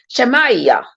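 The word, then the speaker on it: Shemaiah: priest they've sent the priest shamaya shamaya that's how it's pronounced to tell him that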